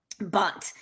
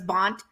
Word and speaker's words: Band: family's surname was b-a-n-d which in germany is pronounced bond right bunt so probably that got mish-moshed when her ancestors came over and said their name was bont and the uh somehow it was transcribed as